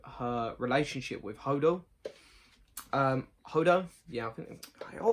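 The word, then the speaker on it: Holdo: relationship with hodo um hodo yeah oh i always say her name wrong i always end up saying hodor it's like no that's game of thrones um hodor general hodo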